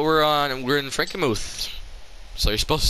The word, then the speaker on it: Frankenmuth: it it's spelled frankenmuth i'm sure it's normally pronounced frankenmuth but i say frankenmurth because i'm just like that i guess but anyways